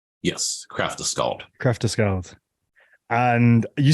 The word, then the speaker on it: Kraftaskald: It's Kraftaskald. Am I pronouncing that right? Yes, Kraftaskald.